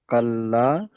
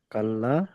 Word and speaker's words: كلا: কাল্লা, lime, বানান করেন আপনি। কাপ যাবার কা, লামালে যাবার লা, কাপ, কাব জবর কা হয় না, কাপ, ও তাসদিদ আছে লামের কাপ, উপরে। হ্যাঁ, কাপ লাম যাবার কাল, হুম, লামালে যাবার লা,